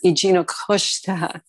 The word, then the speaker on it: Eugenio Costa: My father, Eugenio Costa, that's the correct Portuguese pronunciation of my name, was a journalist on Madeira and a very popular journalist with a loyal following.